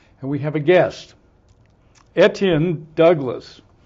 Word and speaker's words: Etienne: we have a guest etan Douglas did I pronounce etan right yes you did okay I now I'm